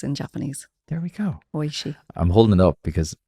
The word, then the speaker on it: Oishii: Oishii Sushi. I've eaten, 1,000 of these and never knew how to pronounce it.